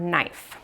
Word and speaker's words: knife: The one that we're going to use today is the word knife. So knife has that silent K at the beginning.